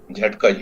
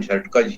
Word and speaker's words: झटकज: बोलेंगे बिल्कुल वैसे ही बोलेंगे, झटकज, इसका उच्चारण भी झटकज ही होगा। और अगर आप इसमें बीच में विलंबित अ लगा लेंगे तो भी उच्चारण झटकज ही होगा। झटक, झटकज, दोनों उच्चारण सही है, लेकिन वर्तनी ये सही है।